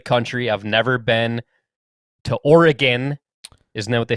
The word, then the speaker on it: Oregon: do feel like i feel like oregon is the right way to say it but some people say it's oregon i don't know oregon just sounds not right to me no i'm not a